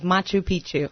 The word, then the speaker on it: Machu Picchu: It's the sacred ancient ruins of Machu Picchu.